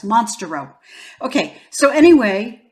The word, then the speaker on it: Monstarot: row now I know some people say it mons tarot but it's the one time that I think the French pronunciation makes sense because it's monster robe guys monster rope okay so anyway it's